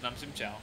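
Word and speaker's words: น้ำจิ้มแจ่ว: your little steak slices in the cup of nam chim jiao, and you'd have that.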